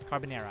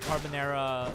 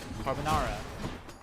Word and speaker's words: carbonara: her and there she had carbonara or carbonara carbonara i think it's pronounced the americans pronounce it she had carbon era like almost every single day or very often